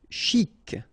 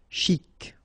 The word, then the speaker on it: chic: Chic. Okay, you pronounce the final C. And then CH together. Ch. Chic.